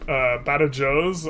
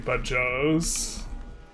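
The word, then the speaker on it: Badajoz: Badajos? I was pronouncing Bajos.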